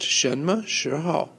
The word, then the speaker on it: 什么时候: The little ho got cut off there, but it's pronounced 什么时候?